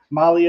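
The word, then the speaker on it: MAHLE: And for our podcast listeners, Molly is spelled M-A-H-L-E.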